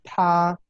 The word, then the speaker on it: 他: Y la pronunciación para estos 3 es la misma. ¿sí? Es ta.